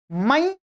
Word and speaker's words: मैं: उच्चारण किया जाए तो इसका उच्चारण क्या होगा? मई, मई, मई, मा आई और अनुस्वार की बिंदी मई। परंतु नहीं, मैं के रूप में होता है, मैं खाऊंगा।